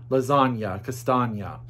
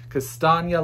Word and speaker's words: Castagna: More Boats by Felicity Castagna. Castagna. She helped me with the pronunciation of her name. Castagna like lasagna, she told me.